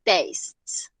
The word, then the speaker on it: tastes: It tastes. ¿Listo? Tastes. Y es necesario que cuando pronunciemos el verbo que lleve la S, la hagamos sonar. ¿Listo? Porque es diferente decir I taste a decir she tastes.